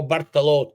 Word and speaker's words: Bartolotta: We're gonna speak about Fabio Bartaloth.